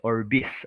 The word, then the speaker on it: Orbis: Ang pronunciation po nito is Orbis, okay?